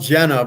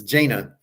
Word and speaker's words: Jaina: I showed uh jaina her name is spelled Jenna but she says my name is jaina so I keep showing